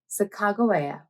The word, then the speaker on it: Sacagawea: or spell her name depending on your dialect and geographical area you will see her name spelled and pronounced in several different ways but for this video i'll be using the pronunciation sacagawea no matter how you